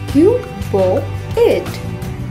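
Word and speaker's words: cuboid: इसे सही से बोलने के लिए पहले बोलें क्यूब, फिर बोलें बॉ, फिर बोलें 8। तीनों को जोड़ते हुए बोलिए क्यूबॉइड, क्यूबॉइड।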